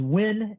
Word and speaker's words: Nguyen: over to you uh my last name is win it is spelled n as in nancy g-u-y like the word guy is an eddie and